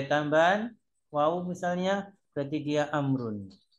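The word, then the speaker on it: عمرو: Ayub Perhatikan baik-baik ya lihat penulisan Amr ber kalau ada Ain mim ro terus wa bacanya dialah amrun atau Amr kalau Umar itu tanpa wawu Kalau tidak ada waauya membacanya adalah umaru umaru dia harus paham betul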